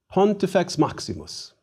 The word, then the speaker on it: Pontifex Maximus: Please try to pronounce chief priest in Latin. Pontifex Maximus.